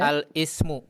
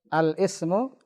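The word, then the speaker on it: الاسم: Al-ismu. Al-ismu. Yakin Al-is. begitu bacanya? Al-ismu. Ini hamzah wasal di tengah. Bagaimana bacanya? Al-ismu. Oh, al-ismu. La, jangan al. Alismu. Alismu. Alismu.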